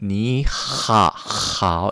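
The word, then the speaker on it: 你好: 그래서 니하오 이렇게 안 되고요. 니하하오 이렇게 들린다는 거. 하지만 만약에 너무 복잡하다라고 하면 그냥 니하오 하셔도 됩니다.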